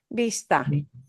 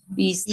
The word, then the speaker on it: Vista: Vista. Vista. Vista. It'll sound like a B. They make the same sound.